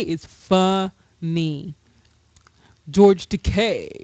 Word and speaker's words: Takei: George Takei is funny. George Takei. It rhymes with gay.